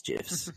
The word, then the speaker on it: GIF: They had little GIFs, or GIFs if you like, because that's how you meant to pronounce it. It's GIFs.